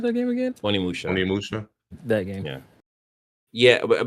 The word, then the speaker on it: Onimusha: Amanusha. How you pronounce that game again? Onimusha.